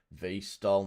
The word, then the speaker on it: VTOL: See, I know my, although I didn't spell it exactly right. Look, it's V-stol, not VTOL.